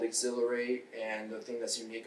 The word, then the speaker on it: Xhilerate: and i said hey how does exhilarate sound but also you spell it x-h-i-l-e-r-a-t-e but also when it